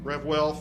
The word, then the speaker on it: RevWell: Jamie will be in this room doing RevWell, pronounced correctly, RevWell Fitness, and it is, as